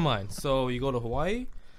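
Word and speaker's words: Hawaiʻi: so you go to hawaii if there's a w within the word pronounce with a v as soon as i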